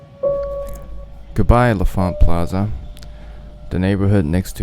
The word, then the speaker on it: L'Enfant: Goodbye, LaFont Plaza, the neighborhood next to my neighborhood that provides the pun/movie reference that I'm basing this entire video on. And it is pronounced LaFont, but you know what?